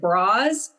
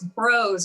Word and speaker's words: Broz: Everyone wants to put an E on the end. And I'm like, no, it's bros. It rhymes with bros.